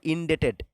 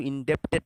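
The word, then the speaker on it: indebted: Number 20 দেখো, উই আর ইনডেটেড। উচ্চারণটা কিন্তু ইনডেপ্টেড নয়, ইনডেটেড।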